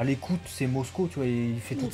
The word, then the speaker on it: Mosco: Il prononce Mosuko, son nom. Bon, ouais, bon. C'est un peu c'est un peu dommage, quoi, que à l'écoute, c'est Mosco, tu vois, il fait toutes ses vannes sur Mosco, justement.